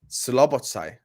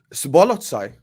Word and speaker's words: Szoboszlai: How do you keep saying it wrong? Szoboszlai. It's not. There's no L at the start of his name. Szoboszlai. It's Szoboszlai. Szoboszlai.